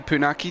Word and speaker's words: Punaki: Somewhat surprised to see Punaki down in 11th, and yes, I'm pronouncing that correctly, or at least that's how I've been told to pronounce his name.